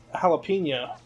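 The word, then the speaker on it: jalapeño: wall yeah yes but I'm not making the H sound with the J I'm not saying kind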